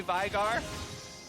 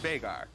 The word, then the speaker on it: Veigar: It's an Icelandic name, and it's actually pronounced Veigar. You hear a lot of people say Veigar, but I know the actual human. Okay. I lived with him, and it's pronounced Veigar.